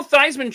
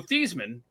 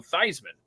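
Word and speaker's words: Theismann: Like Joe Thyman changed the pronunciation of his last name when he wanted to uh when he was he was Joe Theman and then when he was you know getting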